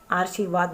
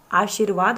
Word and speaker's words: आशीर्वाद: क्या उच्चारित हुआ है आर्शीवाद आर्शीवाद नहीं आशीर्वाद होता है यह मोस्ट इंपोर्टेंट क्वेश्चन